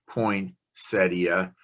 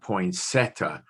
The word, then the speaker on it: poinsettia: are kind of pointy poinsettia not poinsetta so there are four